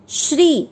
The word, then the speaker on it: श्री: ओम श्री, श्री की मात्रा बड़ी है, लंबा खींचना है।